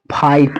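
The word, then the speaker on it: fight: तो इस जी एच को हमें क्या करना है? छुपा देना है यानी साइलेंट कर देना है। तो हमें क्या पढ़ना है? इस आई को आई पढ़ना है। तो हम इसको क्या पढ़ेंगे? फाइट पढ़ेंगे।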